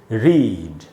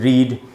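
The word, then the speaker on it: read: जब वर्ब की तरह यूज़ होगा तो ये उच्चारण है रीड, जब ये नाउन की तरह यूज़ होगा तो भी इसका सेम उच्चारण है रीड। लेकिन जब ये एडजेक्टिव यानी विशेषण की तरह इस्तेमाल होगा तो इसका उच्चारण हो जाता है रेड। यहाँ है आर, ई से यहाँ पर ए का साउंड बनेगा इंटरनेशनल फोनेटिक अल्फ़ाबेट में, और डी है यानी रेड।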